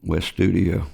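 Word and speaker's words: Wes Studi: So, you actually got to meet somebody, and I'm probably going to say his name wrong, but it's Wes, is it Study? West Studio.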